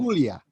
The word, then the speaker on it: Puglia: Puglia. Yep, I can Yeah. never pronounce the stuff right, but they settled.